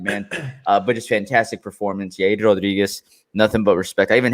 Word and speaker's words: Yair Rodriguez: Yair Rodriguez, nothing but respect. I even had to say his name correctly. Yair Rodriguez, Yeah.